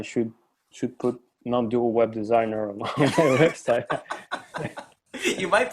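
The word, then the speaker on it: dsign: someone needs a web design then they can check out my website which is hard to pronounce really its design but without the e it's like d s i g n dot sight okay design looks like yeah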